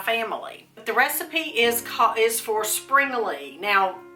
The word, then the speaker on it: Springele: The recipe is for Springele. Now, people pronounce either Springerle or Springele.